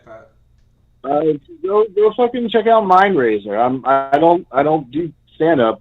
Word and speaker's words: MindRaiser: MINDRAZER, like raising a city.